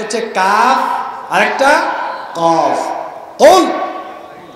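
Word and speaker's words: قُلْ: কুল মোটা করে হবে, কুল। হে নবী আপনি বলুন আল্লাহ একক একক। হে নবী আপনি বলেন আল্লাহ একক একক। এখন আপনি যদি এটা পড়ার সময় মোটা করে কাফ উচ্চারণ করতে না পারেন, আপনি যদি চিকুন করে বলেন যে কুল, কি কুল? কুল মানে খাও।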